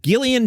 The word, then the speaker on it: Gillian: version said yes I'm Gillian Jacobs it's hard G soft J but the vibe is